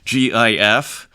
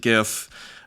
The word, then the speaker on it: GIF: it's its own format, GIF. Some people pronounce it GIF, I pronounce it GIF.